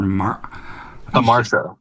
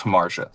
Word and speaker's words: Hamartia: And this band, your your first single, which I'm also going to have you pronounce uh Har Hamar. Thank you. So, our first our first single is Hamar.